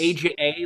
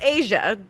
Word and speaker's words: Aja: AJA, like the Steely Dan album. I was just gonna say, which is Asia, but It is exactly like the Steely Dan album, except that it's not pronounced that way. correct. Okay, it's Aja.